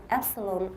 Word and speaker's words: epsilon: The first is based on the Greek letter epsilon and the Epsilon?